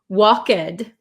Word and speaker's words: walked: could you please pronounce walked it's it makes me difficult to pronounce it's difficult to pronounce right so this one in this word the L is silent we do not say the L okay and the last